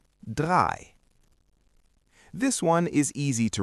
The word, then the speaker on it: drei: When you see the letters E-I together, they make the sound I. So, E-I is pronounced like the long I sound. Zwei, which means two, has E-I. And drei, which means three, also has E-I.